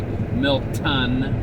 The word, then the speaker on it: Milton: Or for those of you who pronounce it properly, Milton with a T as in tango.